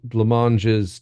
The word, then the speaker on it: Blancmange: Thank you, Monty Python's Flying Circus, and an extended skit about alien Blancmanges turning everyone into Scotsmen so they could win at Wimbledon, um, Yeah.